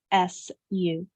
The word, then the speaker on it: sisu: yeah, SISU.